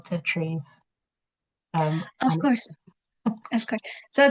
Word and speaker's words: tatreez: And but if we want to, if you spell tatreez, the most, it's just a way to show how we say it in Arabic. The proper pronunciation in Arabic is tatreez. So in English, we try to mimic that sound through the letters TATREEZ, tatreez.